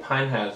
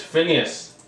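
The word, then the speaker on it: Phinehas: Also, I've been pronouncing it Pinehas this entire time. It's Phineas.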